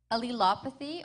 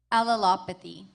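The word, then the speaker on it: allelopathy: Devon, your word is has two pronunciations. Alilopathy or alalopathy.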